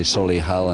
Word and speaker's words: Solihull: I'm very very sorry half the people told me to say Solihull analysts told me to say Solly hell so I know two